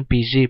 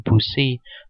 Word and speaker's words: busy: Jadi bacanya busy bukan busi.